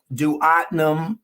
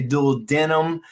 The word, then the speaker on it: duodenum: I won't go with the sphincter, but the duodenum here. You will hear other people say duodenum. Both of those are correct. They work. We know where they are. Sometimes people have different pronunciations for them.